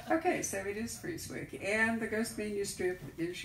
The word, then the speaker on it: Frieswick: We pronounce it Frieswick. Like it is Fries, which is something you guys don't do a lot of out here.